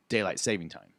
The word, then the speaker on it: daylight saving time: for farmers i think the correct pronunciation though is daylight saving time daylight saving time it is daylight saving it's to save the daylight because you're extending it